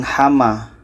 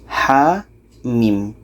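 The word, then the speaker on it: حم: ini kita baca satu-satu jadi ini bacanya bukan hama tapi adalah H min ha mim Ha ini panjangnya dua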